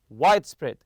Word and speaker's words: widespread: When you put them together in a compound noun, it's widespread. In recent years, capsule hotels have gained a widespread popularity. Also remember to stress the first part.